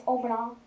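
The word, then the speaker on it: Oman Au: I do know one how to pronounce one shrine. It's Omanah.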